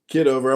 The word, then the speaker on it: Kitover: The other John, is it Kitover? Or how do you pronounce it? Kitover.